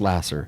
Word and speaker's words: Laser: jesus lasser l-a-s-e-r okay spelled like laser pronounced lasser okay um look truly